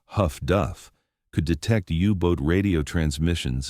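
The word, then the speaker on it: HF/DF: Highfrequency direction finding, HFDF, pronounced Huff Duff, could detect Yubot radio transmissions and determine bearings with reasonable accuracy.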